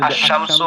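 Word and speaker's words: الشمس: জি যেরকম শামসু, এখানে যদি আশ-শামসু হয় তাহলে এখানে হচ্ছে আলিফ লামের উচ্চারণটা হচ্ছে না, তো এদেরকে হরফে শামসু বলে।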